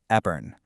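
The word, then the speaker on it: épergne: And yep, for the record, it's pronounced Epern.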